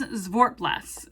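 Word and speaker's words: Zwartbles: is zwar blast so I did find the proper pronunciation in Kendra's newsletter is zort Blas um the phonetic spelling is z v a r t b l SS sport blast um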